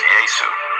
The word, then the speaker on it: Yesu: In different parts of Africa, it's pronounced Yesu.